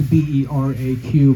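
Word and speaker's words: beraq: And it's B-E-R-A-Q, but it's pronounced Bera.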